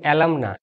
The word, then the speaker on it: alumni: আর এর সাথে ই বসে গেলে এই এ ই একসাথে উচ্চারিত হয় ই হিসাবে। যেমন অ্যালামনা থেকে অ্যালামনি।